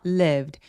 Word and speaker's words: lived: lived 할 때 lived 아니고요. lived 얘는 이름 절자리 소리예요. 소리가 하나란 뜻이에요. 그래서 liv드라고 소리가 세 개로다면 안 된다.